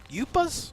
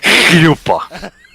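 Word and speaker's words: chuppah: Yuppas? Yuppas? I believe the correct way to say it is yupa.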